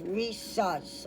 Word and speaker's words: rhesus: I've never seen before, it's spelled R-H-E, like he, sus, S-U-S. So we got a lot of hard words here. It's too little. I don't know, there it is, rhesus, okay?